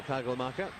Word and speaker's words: Kagelmacher: Now Kagelmacher, which is a very un-Uruguayan sounding name, but I promise you that's how it's pronounced.